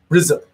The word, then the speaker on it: RZA: Wu-Tang Clan actually started with, I think it's pronounced RZA. RZA.